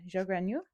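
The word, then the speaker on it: Zhou Guanyu: But yeah, Joganu. Sounds French when you say it. It's not.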